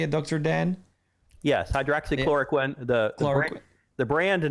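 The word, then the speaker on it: hydroxychloroquine: Hydroxychloricquin.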